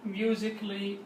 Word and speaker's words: musically: A will be silent and it will not be pronounced. Artistically وليس artistically, and the same logically وليس logically. And so as we said, artistically, logically, musically and romantically وليس musically or logically.